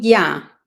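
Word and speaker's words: יה: No, voy a decir Ya, voy a decir Ya, que es el nombre que les di al principio, que es la pronunciación que conocemos, Ya como aleluya, ¿ok?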